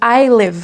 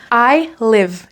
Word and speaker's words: I live: Attention à la prononciation de I live. Il y a un i, il se prononce comme un e. Écoute bien I live et non pas I live.